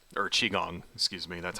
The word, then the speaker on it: Qigong: You have Tai Chi, another one called Qigong, or Qigong, excuse me, that's how it's pronounced.